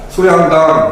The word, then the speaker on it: 소양강: 쇼양당이라고 읽지 마시고 얘도 마찬가지 단모화 하셔서 쇼라고 읽지 마시고 소라고 읽으시면 어 될 거 같아요. 소양당 날린물이 흘러내린 물이 자 그다음에 여기 물 같은 경우에 보시면 날린물 물이라고 되어 있죠.